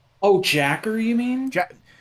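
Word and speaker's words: J.A.K.Q.: and jack q oh jacker you mean it's j a k q yeah but the show pronounces it jacker so i've always said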